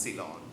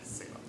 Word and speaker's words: Ceylon: Sri Lanka was originally known as Ceylon, not Ceylon.